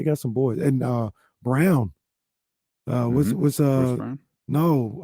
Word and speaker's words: Braun: up in this postseason the man's name is Christian Brown mm-hmm it looks like Braun yeah let's get uh